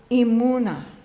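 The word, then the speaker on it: אמונה: So if you want to hear the meaning of faith, of emunah, you need to say it like braying.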